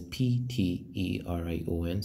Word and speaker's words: pterion: It's spelled as pterion.